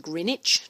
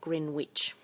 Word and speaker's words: Greenwich: And Greenwich meridian is spelt with a W, and it's pronounced Greenwich, not Greenwich.